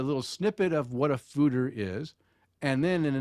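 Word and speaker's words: foeder: so what is a fooder a it's a dutch word fooder pronounced food er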